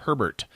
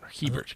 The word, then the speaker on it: Hebert: best interior art by Robert Herbert is all Hebert sorry Hebert good God unless I miss the r in the first syllable I don't think so